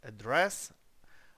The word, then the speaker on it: address: не на перший далі Address теж інтернаціональне слово яке всі начебто знають і ніколи не лізуть у словник але роблять помилку Address а не по-іншому далі слово зем а